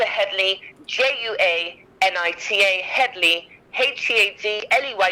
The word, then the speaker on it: Headley: j-u-a n-i-t-a juanita yes headley head like bonnie head juanita hedley it's not